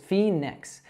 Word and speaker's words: Phoenix: So we actually say this Phoenix. Now this one is really tricky because there's a silent O in that name. No, we don't say that O at all. It's just Phoenix.